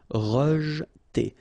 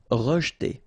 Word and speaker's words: rejeter: Rejeter. Okay, so here the E is not really pronounced, so you get rej. Okay, so E pronounced like E. Rejeter. Rejeter.